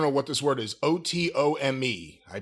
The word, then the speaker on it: otome: As with many other otome games, I don't know what this word is, O-T-O-M-E. I pronounce it otome, but certainly no relation to the Ottoman Empire.